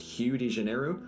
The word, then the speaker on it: Rio de Janeiro: make very little sense apparently rio de janeiro is supposed to be pronounced hugh de janeiro and to that i ask one question and that is what did the letter r ever do to you guys but while i could